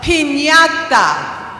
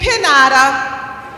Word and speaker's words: piñata: How many of you have ever heard about a piñata? Okay, good. You say piñata. It has the ñ with the little tilde. But if you took that away, it would just be pinata.